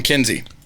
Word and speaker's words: Kinsey: I'm Kinsey. It's supposed to be rhyming with Gen Z.